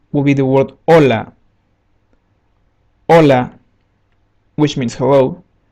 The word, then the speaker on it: Hola: be the word olola Hola which means hello we don't pronounce the letter h letter i in Spanish